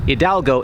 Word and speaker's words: Hidalgo: Goliad was named after Father Hidalgo, which is an anagram of his name minus the H, because in the Spanish language, the H in Hidalgo is silent.